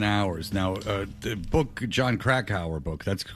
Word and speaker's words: Krakauer: Now, the book, John Krakauer book, that's the correct pronunciation, right?